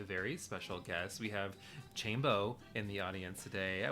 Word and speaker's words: Chambo: So I'm Chambo. It's really easy to remember. It rhymes with rainbow.